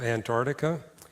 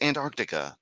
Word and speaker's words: Antarctica: But for some reason, when it's Antarctica, they never pronounce the C. It never hit the C sound.